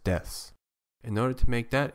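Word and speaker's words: です: last noun or adjective the pronunciation of Desu is usually shortened to just deaths in order to make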